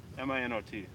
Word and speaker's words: Minot: Minot. Minot. Minot. Why not Minot? I kept There's thinking a the miles T was long silent list of or something. reasons why to avoid Minot.